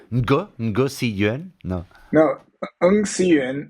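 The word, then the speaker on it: Ng Si Yuan: No, Eng Siyuan is the Ng. Cantonese, Eng Yeah. Siyuan, but in Mandarin it's Wu Siyuan.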